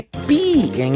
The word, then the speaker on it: pi: Porque pi em inglês se pronuncia pie e é igual a torta.